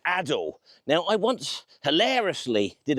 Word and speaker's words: Adel: It's a sort of a suburb of Leeds called Adel. Now, I once hilariously did a video in this area where I pronounced Adel as Adele, like that awful screeching uh popular singer.